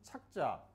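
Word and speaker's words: 着: 주시면 주시면 밀착하라 반드시 착자 글을 쓰다라고 할 때는 저라고 하고 또 드러나다 할 때도 저라고 발음을 하지만 입다라고 할 때는 착이라고 발음을 합니다 글자는 같이 쓰지만 의미가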